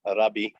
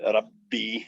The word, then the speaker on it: rabbi: In the Semitic languages, even doubled consonants are simply pronounced twice as long. So, instead of rabbi, it'll be rabbi, and they simply stretch out it's hard for us English speakers to do.